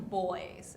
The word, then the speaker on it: buoy: I hit a buoy once, You did. but it was because I was joking around. It's A never buoy. Buoy sounds like the word boogie. We call them boys in Australia.